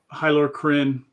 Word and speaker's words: Hylar Kryn: This one, the Hylar Kryn, is correct my pronunciation? Yep, Hylar Kryn.